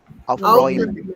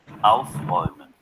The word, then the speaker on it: Aufräumen: Aufräumen. Aufräumen. Aufräumen. Okay, let's check. Aufräumen. Aufräumen. The stress is on Aufräumen.